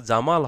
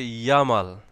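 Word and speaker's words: Jamal: এর মত yacht yacht কারোর নাম যদি হচ্ছে জামাল হয় তাহলে এটা হবে ইয়ামাল জামাল কে উচ্চারণ করা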